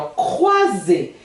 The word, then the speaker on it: croiser: Olha só, lembra que eu vivo falando E com R vira som de E. O com I vira U-A, né? E o S vira Z. Então o que eu falei aqui? Croiser.